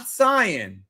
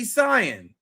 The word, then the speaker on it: Saiyan: It's Saiyan and Kaioken. AI is I, not A.